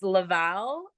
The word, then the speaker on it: Laval: want to mispronounce it it's Laval okay it's just right outside of Montreal so if you're in